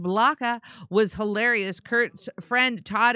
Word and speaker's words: Blacha: Tommy Blacha, pronounced Blaka, was hilarious.